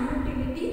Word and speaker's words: utility: The mobile phone is dash utility item. The mobile phone is dash utility. What articles here you will use? Utility. Utility item. See, even though the letter is U, but the pronunciation of it is U.